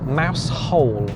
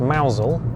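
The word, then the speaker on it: Mousehole: in uh in mausole a mouse hole as it's written uh mouse hole pronounced mousel because we're not oh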